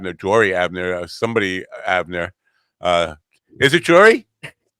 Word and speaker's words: Jory: Is it Jory? Jory with a silent J, silent O.